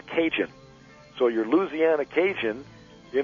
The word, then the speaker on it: Cajun: French territory and um these acadians from Canada the term ended up being pronounced cinjun so your Louisiana Cajun